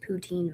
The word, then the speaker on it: poutine: It's pronounced poutine, by the way.